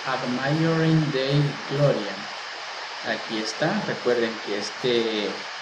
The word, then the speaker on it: Ad Maiorem Dei Gloriam: Se pronuncia Ad Maiorem Dei Gloriam.